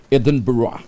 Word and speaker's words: Edinburgh: edb sa Scotland ah aan daw ang pronunciation di Edmund burg ang pronunciation niyan Edinburgh Ayan ha ay sapat